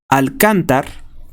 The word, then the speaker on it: Alcántar: repito Fernando Rubén Guerrero alcántar tiene acento en la a fue privado de la